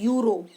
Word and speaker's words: euro: जैसे यहाँ देखो EURO, इसको हम प्रोनाउंस करते हैं यूरो। य साउंड आ रहा है, य जो है वो वॉवल नहीं है, वो कॉन्सोनेंट है।